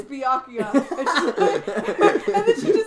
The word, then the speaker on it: Byakuya: did he tell her she said she said bacula and he went it's byakuya and then she just said I'm sorry and